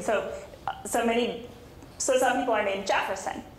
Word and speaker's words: Jefferson: But with the pronunciation in Portuguese, if it's spelled the way we spell it, it comes with a soft J, so Jefferson. So some people put in the D to make Jefferson.